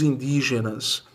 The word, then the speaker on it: indígena: Indígena é a antepenúltima.